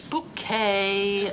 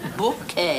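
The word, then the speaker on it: Bucket: it is kamla Harris it's bouet b u c k e t bouet the accent on the second syllable who's Daniel Boland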